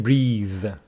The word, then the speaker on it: breath: was crowded we couldn't breathe with the e at the end it is a verb pronounced breathe without the e it is a noun pronounced breath okay so the theater